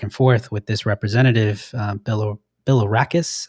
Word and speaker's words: Bilirakis: forth with this representative, Bilirakis, I believe is how you pronounce it, Gus Bilirakis from